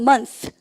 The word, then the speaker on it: month: TH가 뜨면 여러분들 일단은 입 사이로 여러분들이가 이렇게 혀가 나오면 쓰 아닙니까? 그래서 한 달 그럴 때 그럼 보세요. 한 달 해보세요. one 시작. one month. 왜요? 입 사이에 혀가 나오죠. month. 한국말이 없는 발음입니다.